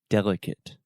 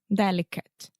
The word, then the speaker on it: delicate: said passionate passionate so remember the majority of adjectives in English that end in ate we will simply produce the it sound so passionate passionate delicate delicate adequate adequate adequate adequate articulate articulate there we go so you want to get that eight sound out of your mouth and it passionate perfect